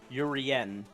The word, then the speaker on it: Urien: like my name it's it's pronounced like my true name so it's uh urien oh urian okay I I will